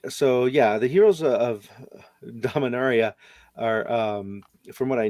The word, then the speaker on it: Dominaria: the dominaria board game dominarian area it's it's pronounced dominaria dominaria have you played that we're all wrong that's awesome i haven't